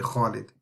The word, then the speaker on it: Khalid: Like English people, they say Khalid. They say Khalid. They don't say Khalid, but it's actually Khalid.